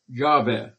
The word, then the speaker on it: Yahweh: Most probably it should be pronounced Yahweh.